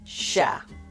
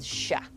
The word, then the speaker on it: cher: There are some who will distinguish between masculine 'cher' and feminine 'chère' but for many speakers, the two forms are pronounced the same.